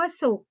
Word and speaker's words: สุข: คำ ว่า ปั่น สุข คำ ว่า สุข สะกด ด้วย ขอ ไข่ แต่ ออก เสียง เป็น ตัว กรอบ ไก่ นะ คะ มัน ก็ อยู่ ใน มาตรา แม่ กก นะ คะ เสียง สระอุ